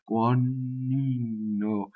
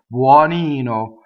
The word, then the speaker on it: buonino: Buonino, you see? Buonino. Even softly, it's still double N. So how do I do single N? Is I just touch the N, right? Buonino.